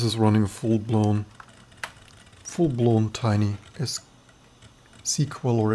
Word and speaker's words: SQL: So this is running a full-blown tiny SQL or SQL. I actually wanted to pronounce things, not how I, in my opinion, think they make more sense. SQL, not SQL. SQL.